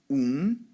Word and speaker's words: Ubuntu: You can say it with me, Ubuntu. 3 syllables, right? My deaf daughter can even say this because it's easy enough for her to get it, right? Boon, and 2. She gets it.